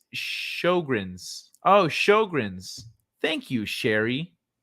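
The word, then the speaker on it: Sjögren's: is an amazing coincidence it's pronounced as shogren's oh shogren's thank you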